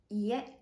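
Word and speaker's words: 家: Le logement, jutaku, la maison, ie. Attention ici au niveau de la prononciation à ne pas confondre avec ie qui veut dire non.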